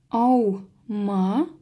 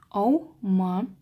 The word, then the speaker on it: аума: Аума. Замечаем, что когда У читается как Уэ, идет исключение из правил. В одном слоге два гласных идут. Аума.